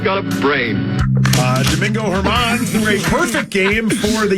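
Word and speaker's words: Germán: game in baseball history I was I was so hoping you were going to call him German but you knew how to say his name that disappoints me greatly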